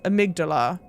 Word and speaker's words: amygdala: a very intentional pronunciation it is not the correct pronunciation for that word the connect correct pronunciation for that word is amygdala and the AMD and